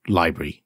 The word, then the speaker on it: LBRY: we say, are on Library. I call it Library, but it's spelled LBRY.